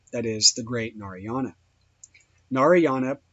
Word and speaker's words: Narayana: Narayana, pronounced and written Narayan, or sometimes Narain, is a common name with Hindus of several sects and often occurs in their writings.